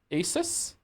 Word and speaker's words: Asus: So So last Asus Asus. There we go. Last ASUS. I will try my best to remember Asus. Okay. Like the motherboard.